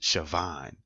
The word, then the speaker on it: Siobhan: sassy attitude roll their eyes sucker teeth it's pronounced Siobhan you know that that it's like a common